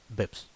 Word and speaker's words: bps: The first one is known as basis points or BPS, and it's pronounced BIPS.